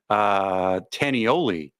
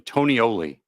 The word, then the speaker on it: Tonioli: Tanioli is what it looks like. Rob says Italiano. Okay. Joanna coming in clutch with the actual pronunciation. Tonioli. Okay. Or something like that.